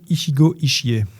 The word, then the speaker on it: Ichigo Ichie: ont écrit pris le bouquin Ikigai qui s'appelle Ichigo Ichie, je l'ai bien prononcé en plus celui-là.